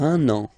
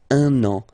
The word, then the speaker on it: un an: Il va partir pour un an. Okay, so you can hear that now I make this link between the two. Un an.